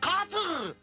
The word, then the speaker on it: quatre: Four is quatre. Did he say it to me? What did you say? Ahh please Monsieur Şaban, repeat please. Quatre. Back at you. Oh no, quatre, quatre.